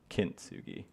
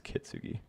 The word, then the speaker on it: Kintsugi: Kintsugi. I thought it was Kitsugi.